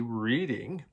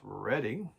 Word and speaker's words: Reading: We would say Reading, but it is pronounced Reading.